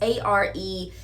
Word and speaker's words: Arendt: thesis by political philosopher Hannah Arendt, I think is how you say it. It's Arendt.